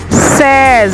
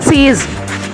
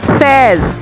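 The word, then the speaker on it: seize: 16 says, it's not a sees, says.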